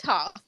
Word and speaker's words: Thoth: It's pronounced Thoth.